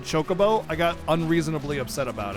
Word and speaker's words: chocobo: to not like ff10 i pronounced it kokobo when i was a kid and then when ff10 had the voice acting and said chocobo i got unreasonably upset